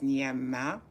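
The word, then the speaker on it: Gnama: My name is Nama. It's spelled G N A M A. French spelling because I speak French.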